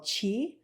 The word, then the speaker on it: Qi: vital force energy spirit it's called Chi it's spelled Qi um and when we